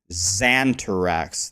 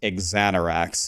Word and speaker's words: Raxxanterax: But the real way to say my name is R-A-X, Rax, was my clan. My AIM screen name was Exanterax. Everyone always calls me Xanterax. There's no Z. It's Exanterax is how you're supposed to say it, but it's